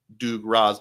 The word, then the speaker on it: Dugroz: be absolutely hilarious to call myself Doo Raz by spelling it phonetically, and it just kind of stuck.